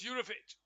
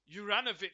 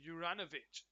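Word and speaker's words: Juranović: Goes out to the right side towards Jurovic. Juranovic, sorry, is how you pronounce his name. Juranovic.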